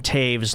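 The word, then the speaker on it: Toews: uh tonight is uh Jonathan Taves last game with the Chicago Blackhawks that's my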